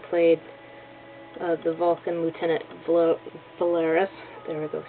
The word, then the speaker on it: Valeris: Kim kral who played uh the Vulcan Lieutenant valeris there we go said it right and well